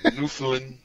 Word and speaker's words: Newfoundland: Newfoundland. You gotta say it like a pirate.